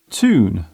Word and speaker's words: tune: In American English, the hard T is often used in most words beginning with TU. Words such as tube, tune, tutor, tuber are all pronounced with the hard T.